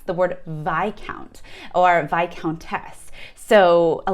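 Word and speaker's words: viscount: a lot of americans and people globally really mispronounce the word vi count or vi countess so a lot of people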